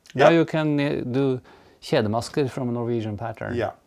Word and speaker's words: kjedemaske: So the way to pronounce this is kjedemaske.